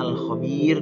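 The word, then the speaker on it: الخبير: Ya, bacanya Al-Khabir.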